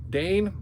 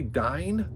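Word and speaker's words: Dáin: this to be coming Dane Dy Dane iron foot I think it's actually dine because that's how like tolken had these very specific pronunciations like if you see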